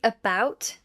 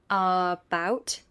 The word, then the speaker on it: about: Say about with a weak first syllable, not about.